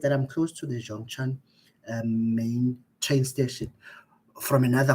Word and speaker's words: Zhongshan: So Zongshan, the way I pronounce it, they call it Zhongshan bus station. They don't call it that way. There's a Chinese way of calling it.